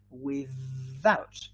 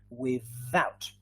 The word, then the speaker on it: without: of this word is without yes so you have to feel the vibration here without what is the pronunciation